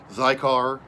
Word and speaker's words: Xikar: Cigar, which is spelled Xikar, they make a great cigar that's got a lifetime warranty.